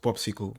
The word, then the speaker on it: PopSQL: we are going to install an editor called popsicle popsicle is used to run and write queries so the name is popsql and it's pronounced popsql like a popsql so you know my SQL